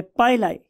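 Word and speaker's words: pili: का नाम होता है पाइलाई। बहुत से लोग इसे पिली भी बोलते हैं, लेकिन मेरियम वेबस्टर डिक्शनरी के प्रोनाउंसिएशन के मुताबिक ये पाइलाई है, राइट।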